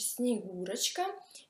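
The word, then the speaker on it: Снегурочка: si pronuncia Snegurochka e deriva dalla parola sneg, cioè neve, la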